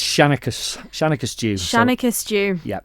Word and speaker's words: Shennaghys Jiu: Shanikus dw shanakus stew.